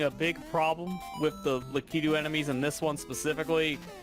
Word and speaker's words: Lakitu: Pronounce it like in Japanese is Lakitu, so I think Lakitu is supposed to be correct.